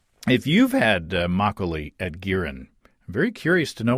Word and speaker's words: Girin: I did some searching online to see if anybody's making Makgeolli commercially in the U.S., and I found Girin. I believe that's the way you pronounce it, G-I-R-I-N, a Korean steakhouse in Seattle.